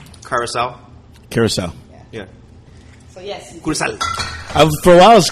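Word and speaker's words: Curaçao: Curacao. For a while, I was calling it Caracho.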